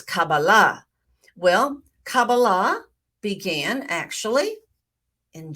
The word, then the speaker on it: Kabbalah: Kabbalah some pronounce it Kabbalah but the Sephardic pronunciation and I study Sephardic Hebrew is Kabbalah well Kabbalah began actually in Genesis 1 1.